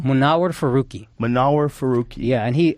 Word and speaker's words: Munawar Faruqi: Munawar Faruqi.